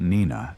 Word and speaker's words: Nenina: And because the name Nenina also appears written phonetically, it is reasonable to accept Nenina as the correct pronunciation for the goddess as well.